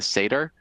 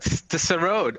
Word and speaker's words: Sarod: Tell us about your instrument, your passion for the how do I pronounce it? The Seder? The Sarod.